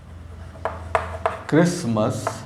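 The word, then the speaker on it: Christmas: I love decorating this क्रिसमस, यहाँ पे T silent होता है, क्रिसमस ट्री।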